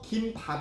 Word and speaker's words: 김밥: 이에요 김밥이 에요 쓸 때는 키 밥으로 쓰거든요 발음도 김밥 이 표준 하였어요 왜냐하면 재료 플러스 밥은 된소리로